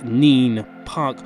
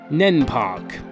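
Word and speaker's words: Nene Park: at Earthling Borough diamonds Neen park or if you're from Northampton nen Park I don't know why you call it that it's it's so obviously mean and that is the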